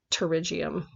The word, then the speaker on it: pterygium: getting a pterygium and the P is silent so it sounds like pterygium so this kind of